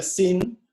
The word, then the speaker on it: zine: En realidad se escribe sign, pero se pronuncia sin, y viene de la palabra magazine o fanzine.